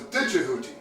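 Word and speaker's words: Djehuti: In fact, the old way of pronouncing Jehuti's name was Dijehuti.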